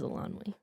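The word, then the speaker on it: Eilonwy: This would be Elanwi, I think is how you pronounce that. Yes, it is Elanwi.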